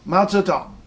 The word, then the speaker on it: Mao Zedong: up I guarantee you if you can say it's up you can say so Tom so we're settled matzo Tom now I remember telling